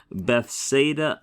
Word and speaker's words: Bethsaida: that's called the diarisis it means do not pronounce this as a diphthong but pronounce those vowels distinctly right and we're putting